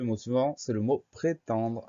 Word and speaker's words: prétendre: Le mot suivant, c'est le mot prétendre. Alors, dans la première syllabe, c'est pré, P-R-E accent aigu. La deuxième syllabe, c'est ten, T-E-N. On fait attention au son en qui s'écrit E-N.